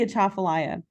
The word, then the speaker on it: Atchafalaya: of the Mississippi River system this is the achafalaya river don't worry I will not test you on the pronunciation of this word it is quite tricky but this is the Atchafalaya the atoplay river is part of the Mississippi